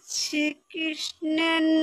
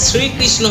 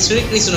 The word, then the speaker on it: শ্রীকৃষ্ণ: আরেকবার বলতো দেখি তোরা শ্রীকৃষ্ণের নাম তোরা সকল পাপ থেকে উদ্ধার পাবি আরে বৌদি ওটা শ্রীকৃষ্ণ হবে শ্রীকৃষ্ণ নট শ্রীকৃষ্ণ আসলে তুমি তো আগে